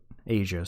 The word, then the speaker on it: Aja: Which, fun fact about this track, apparently it's called Asia, but it's spelled AJA, because I forget whether